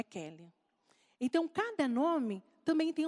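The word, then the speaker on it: Queli: Então, na hora, o Grace passou para a Gláucia e o Kelly é escrito com Q-U-E-L-I. Então, às vezes, muita gente fala assim, nossa, mas como que pronuncia? Coelho? Não, é Kelly.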